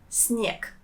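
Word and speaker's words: снег: the weather for example the noun snick that means snow notice how I pronounce the last sound good I pronounce it as snick let's try to answer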